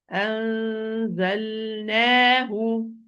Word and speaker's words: أنزلناه: Anzal, wait a while, give to the lam its time, it's an in-between letter, bayni. أنزل أنزلناه. If I didn't give it its time, it would be easy to merge.